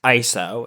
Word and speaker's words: ISO: ISO, which is the International Organization for Standardization, it's pronounced ISO. It is not ISO because it's not an acronym. It's ISO, like the Greek prefix ISO, which means same.